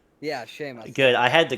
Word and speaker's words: Seamus: Seamless. It is. am I pronouncing that? It's Seamus, right? Yeah, Seamus.